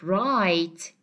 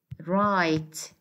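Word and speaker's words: write: Simply, I'll say right. Okay, as you see, we don't have W in the phonetic transcription. It is silent.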